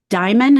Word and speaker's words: Dimon: And you address and talk about JP Morgan Chase, led by Jamie Dimon.